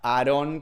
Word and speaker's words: Aarón: estaba Moisés, Coré y uno que era Aarón, creo que se llamaba, o sea, con acento en la O.